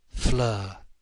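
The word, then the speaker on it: Fleur: Flur. It rhyme with her.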